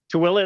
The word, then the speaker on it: Tooele: Tooele is how you say it, and it's not spelled anything like that at all.